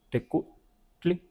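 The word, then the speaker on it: tecuhtli: Lo de tecutli o teco, un poco más abierta la u, tecutli.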